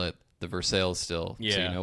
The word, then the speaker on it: Versailles: my very favorite was the very confident, it's pronounced Versailles. And, that's classic. Yeah, with like 10 likes on it, so that was hilarious. No, I mean, it's true that in France they pronounce it Versailles, but if you speak with the people at